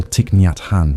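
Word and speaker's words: Thích Nhất Hạnh: The great Zen master Tiknathhan whom we can call Tiknat Han for ease of pronunciation often reminded us breathing in I calm my body.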